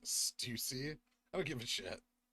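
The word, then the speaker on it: Stüssy: It's pronounced Stussy.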